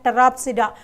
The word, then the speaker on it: Pteropsida: Okay, Psilopsida, wherever you find P, that is silent. Psilopsida, Lycopsida, Sphenopsida and Pteropsida.